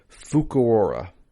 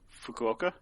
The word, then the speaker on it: Fukuoka: have to excuse me fukuora fukuoka fukuoka why not put r in there fukuoka um which is